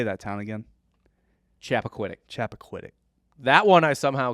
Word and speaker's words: Chappaquiddick: Chappaquiddick.